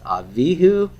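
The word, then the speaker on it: אביהו: Now look here, my accent is on the bet in both cases. It's avihu and aviv.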